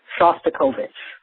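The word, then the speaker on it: Shostakovich: The I just finished listening to today's uh download and the pronunciation of the of the composer is Dimmitri Shastikovich. Shastikovich.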